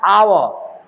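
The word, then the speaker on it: hour: blank छोड़ देते हैं यहां पर लिखते हैं एच ओ यू आर हावर लिख लिखते हैं पढ़ते हैं आव है ना एन एन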